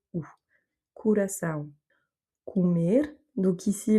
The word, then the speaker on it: comer: Comer. Donc ici, le mot se termine par un R, donc l'accent tonique se fait sur la dernière voyelle, et donc le O qui se situe avant se prononce OU.